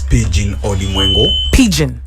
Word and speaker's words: Pigbin: thank you very much my name is pigeon yeah the bee is silent yes name aspirations hi